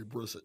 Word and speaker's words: Brissett: Brissett, say his name Brisket? Jacoby. Jacoby Brissett, yeah, Brissett, whatever.